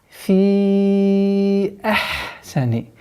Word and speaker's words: في أحسن: Вот здесь нужно быть очень внимательным, так как после применения долготы хамза немножко труднее становится произносить четко. А после которого идет еще и гортанный звук ха. Фи ахсани.